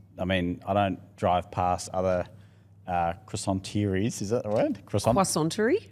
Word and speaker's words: croissanterie: through, but also, I don't drive past other croissanteries, is that the word? Croissanterie? Croissanteries. Perfect. Thanks. I'm trying to say it pronounce it how you were pronouncing it.